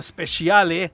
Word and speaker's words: Speciale: Experience up next after the Speciale as it's pronounced in Italian the last car in